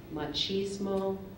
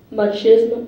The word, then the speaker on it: machismo: l e n correct your word has several pronunciations I'm going to give you the two most common machismo or MMO machismo or machismo m a